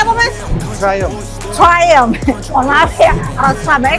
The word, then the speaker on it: Triumph: Ada di, bacanya apa, Mas? Triumph.